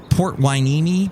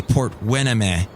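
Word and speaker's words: Port Hueneme: in ventura county and it says it's port wineme but people would always say port wena they they totally get it wrong okay let's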